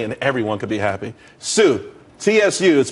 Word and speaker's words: Tsu: there's more money and everyone could be happy Sue TSU is pronounced Su though that's that's a website.